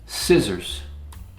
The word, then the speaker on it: scissors: There's a P in there, and the P is silent, not receipt, it's receipt. Scissors, a cutting instrument with two blades. Scissors.